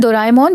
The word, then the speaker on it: Doraemon: I'm saying Doraemon because that's the correct pronunciation in Japanese.